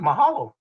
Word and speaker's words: Mahalo: How do you say it? Mahalo? Yeah, that's it. Mahalo.